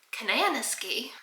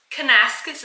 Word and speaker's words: Kananaskis: He said, Kananaski. Listen, it is spelled Kananaski. Like banana, ski. Kananaski. Kanaskus. Kanaskus is how you pronounce that.